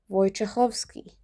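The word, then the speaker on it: Wojciechowski: Kind of like the and the ending ski is always ski. It's never sky. Put it together slowly. Vchovski.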